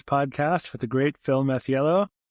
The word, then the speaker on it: Masiello: with the great Phil Masiello. How are you? I'm excellent. Thanks for having me. I can't wait. How'd I do with your last name? Was that like 90%? Masiello. That's exactly right.